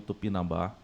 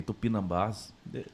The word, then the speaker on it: Tupinambá: Tupinambá. Eu até pronunciei errado e coloquei errado, na verdade, anteriormente. Coloquei Tupinambás.